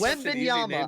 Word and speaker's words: Wembanyama: It's just Wembanyama. I'm not stupid. It's just way funnier to say Wembanyama. Well, and I just. Yeah, I know you know because he does the Wembanyama, so I just started making fun of him